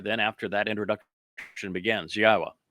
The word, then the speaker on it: Yahowah: Then after that introduction begins, Yahwa, which is the proper pronunciation of God's one and only name as directed by his Torah teaching regarding our higher existence and our shalom restoration.